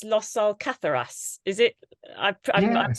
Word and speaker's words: Los Alcázares: In I think it's Los Alcázares. Is it? I mispronounced this.